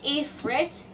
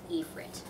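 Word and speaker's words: Efrit: epit or no yeah it's epit cuz you pronounce it with an E like e not with an i it shows an I but you pronounce it with an e e frit kind of like e Dash frit that's how you would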